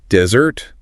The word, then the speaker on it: desert: And the stress it falls on the first syllable.